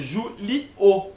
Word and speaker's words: Júlio: Julio. Se fosse com H, não ia ter tom de I e não ia ter essa pausa. Ia ser direto, ia ser Julio.